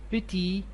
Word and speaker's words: petit: the feminine forms so pity will be petite and also watch the pronunciation pity you never pronounce the